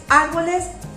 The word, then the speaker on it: árboles: Árboles, como podemos identificar, la mayor fuerza de voz está en árboles, la sílaba ar, ¿verdad?